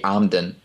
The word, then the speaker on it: Emden: The E pronounced as an A as an and, so that would be Amden.